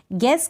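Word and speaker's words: guess: जैसे ये है गैस, जी को तो हम पढ़ रहे हैं लेकिन यू का उच्चारण नहीं हो रहा है। गैस का मतलब होता है अंदाज़ा लगाना, गैस करना।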